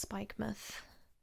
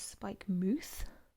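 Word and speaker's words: Spikemuth: so it's like mouth so it's like spike mouth but it's pronounced spike myth um i think they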